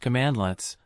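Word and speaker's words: cmdlet: In PowerShell, administrative tasks are generally performed via commandlets, pronounced commandlets, which are specialized .NET classes implementing a particular operation.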